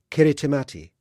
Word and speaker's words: Kiritimati: has a new name kiritimati the people of Kiribati the Gilbert Islands have difficulty pronouncing the letter s so Christmas becomes Christmas kiritimati a new name is